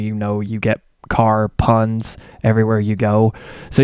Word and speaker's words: Kahre: pretty similar and uh my last name is car it's spelled different it's k a h r e but it's um different spelling but it's still a car like you drive like if you're part of the car family you know you get